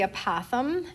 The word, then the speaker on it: apothem: The first word is the apothem is how you pronounce that.